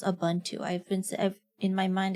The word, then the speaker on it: Ubuntu: Bro, I didn't know it's pronounced Abuntu. I've been in my mind they call it Ubuntu, but um apparently it's pronounced Abuntu.